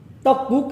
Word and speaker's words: 떡국: 떡국 adalah sup kue beras. 떡국, sup kue beras. Nah, Untuk pelafalannya kita dengarkan orang Korea dulu yang berbicara.